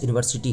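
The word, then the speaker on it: university: उसी प्रकार there is dash यूनिवर्सिटी here. यहां पे कहता है यहां एक यूनिवर्सिटी है। कितने यूनिवर्सिटी है? एक यूनिवर्सिटी है। यूनिवर्सिटी का पहला लेटर य से शुरू होता है।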